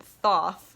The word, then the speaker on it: Thoth: the Thoth tarot deck I pronounce it thoughts because it's th at the start and then th at the end so to me it makes sense a Thoth but I've heard a